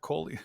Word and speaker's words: Collier: Hope I did pronounce that right. Is that Yeah, correct, Collier?